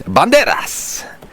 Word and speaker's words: Banderas: But you have to take care of how you pronounce Banderas. It's Banderas!